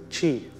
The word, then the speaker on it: qi: The Japanese and the Chinese know this as qi. And guess how it's spelled?